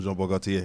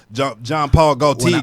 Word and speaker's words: Jean-Paul Gaultier: First of all, great pronunciation on Jean-Paul Gaultier, because most people just John Paul Gaultier.